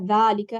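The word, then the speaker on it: ذلك: Remember, there's no, even though we pronounce it as Zaalika and Haza, there's no alif after the ha or after the da when you write it.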